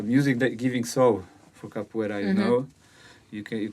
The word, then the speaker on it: capoeira: i thought how do you how do you pronounce it properly so i went to these capoeira websites where they teach you how to say